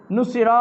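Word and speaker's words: نُصِرُوا: পুরুষ মহিলা বহু বহুবচন পুরুষের ক্ষেত্রে সাকিন আর পরে একটা আলিফ থাকে এই আলিফটা উচ্চারণে আসে না এমনি থাকে এটা এমনি থাকে তোমাকে সাহায্য করা হয়েছে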